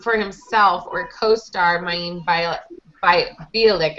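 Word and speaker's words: Mayim Bialik: Parsons used his Emmy morning to stump not for himself or co-star Maeve Bielik, I think is how you say her name, who picked up her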